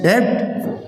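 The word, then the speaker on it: debt: honest ए silent है डेप्ट ब silent है ऑरेंज पूरा का पूरा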